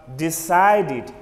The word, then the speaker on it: decided: Though we have an E at the end of this word, this E is artificial. It is not pronounced, but the word has a final D sound, a final D sound. So it's pronounced as decided, decided.